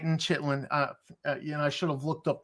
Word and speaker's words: chitin: But no, it's chitin. I should have looked up the word so I could pronounce it right for the video.